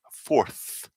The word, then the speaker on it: fourth: so force forth so a good trick if you have problems with that what i always say to people is put your tongue between your teeth so it's fourth fourth so you finish like